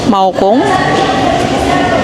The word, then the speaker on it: Maokong: you pronounce it ba maong kong maokong yan o maokong gondola first